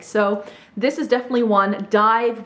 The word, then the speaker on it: DIIV: DIIV, which is spelled D-I-I-V, because there was already a band called DIIV with the regular spelling, so then they changed the spelling.